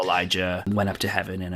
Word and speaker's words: Elijah: now is elijah and elijah kind of like uh a megan versus amigan where it's spelt the same but it's just said differently oh no it's one's an sh and one's a j oh like elisha elisha